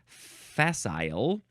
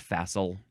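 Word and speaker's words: facile: next word is fessel f a c i l e it looks like it would be pronounced fasile but it's just faasil adjective from the 15th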